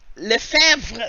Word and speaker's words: Lefebvre: Lefebvre. That's what I thought. Yeah, that's because the B is silent, so it's very close. Lefebvre.